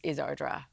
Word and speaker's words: Ardstraw: It's only 15 minutes over the road, and actually Ardstraw is mentioned, Ardstraw is Ardra.